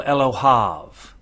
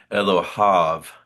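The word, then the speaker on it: אלהיו: I wanted you to notice that he says here Elohav. So he's pronouncing this as av and this uh comments and yod combination the he like it's he's not pronouncing the yod at all.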